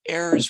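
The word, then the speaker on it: heirs: is referred to as airs property and I've tripped over the silent h on airs a lot so I'm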